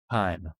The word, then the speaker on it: Kaim: Is it Kame or Kime? Kime. Rhymes with rhyme, lime, and dime.